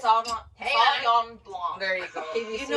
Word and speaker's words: Sauvignon Blanc: Sauve Blanc. Wait, Is that how you you say say it? it? Sauvignon Blanc.